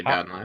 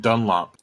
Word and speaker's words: Dunlap: past 2 days, and the band director kept mispronouncing my name. Nice. How did they pronounce it, Dunlap? Yeah. No, he said Dunlop the whole time.